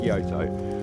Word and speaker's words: Kyoto: Bearing in mind it's spelled K-O-Y-T-O, Kyoto, K-E-Y-T-O, Kyoto. We're going to Kyoto.